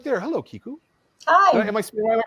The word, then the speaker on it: Kiku: author is kiku hughes who's right there hello kiku am i pronouncing that correctly perfect okay just you never